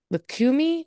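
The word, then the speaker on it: Lukumí: Ben's own personal spiritual background includes Hinduism, NeoPaganism, Lukumi, which I'm sure I mispronounced.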